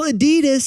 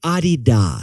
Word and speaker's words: Adidas: we all say incorrectly besties you put the wrong and fastest on the wrong syllable for instance Ikea is actually Ikea for example Adidas is actually Adidas so we asked the